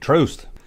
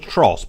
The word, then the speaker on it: Trost: His name was Nick Trost. And yes, I thought it was Trost, but it rhymes with toast.